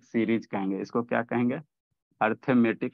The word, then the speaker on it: arithmetic: Pattern बनता है, इसको अर्थमेटिक सीरीज कहेंगे। इसको क्या कहेंगे, अर्थमेटिक। ARI होता है जी, अरिथमेटिक होता है। स्पेलिंग क्या होता है जी अर्थमेटिक का? ARI, अरिथमेटिक होता है ना।